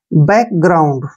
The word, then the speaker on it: background: देखिए दो वर्ड से मिलके बना है, BA के उच्चारण हम बे करते हैं, CK को क पढ़ेंगे, बैक हो गया ना, बैक। G का उच्चारण यहाँ पे ग करते हैं, और R का उच्चारण रे करेंगे, और OU को हम आउ पढ़ेंगे ऐसे, आउ, ठीक है ना, आउ पढ़ना है, N को न पढ़ना है, और D को ड, ग्राउंड। देखिए ग्राउंड, बैकग्राउंड।